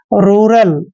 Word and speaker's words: rural: आर का उच्चारण हमेशा रे करते हैं, यू को ऊ की मात्रा पढ़ते हैं ऐसे। और देखिए आर को हमने रे पढ़ना है और AL का उच्चारण ले करते हैं, यानी कि रूरल।